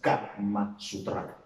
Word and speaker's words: Kama Sutra: Au niveau de Sutra, ce n'est pas Sutra, mais c'est Sutra. Ce n'est pas non plus O-U, mais c'est U. Et ça se prononce Kama Sutra.